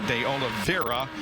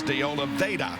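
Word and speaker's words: de Oliveira: get letters saying oh you pronounced his name wrong because there's an r in there it should be deola Vera but he says deola vaa so that's the way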